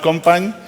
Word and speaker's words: Company: It's pronounced Compagne, but, well, it brings me problems somewhere.